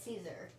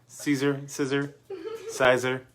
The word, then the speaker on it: Siser: Daddy doesn't even know how to say Caesar. You know what? Siser. No. He's saying it. I'm saying it how it's spelled. Well, that's not correct. If anybody from Caesar is watching, I'm sorry, I'm botching the name.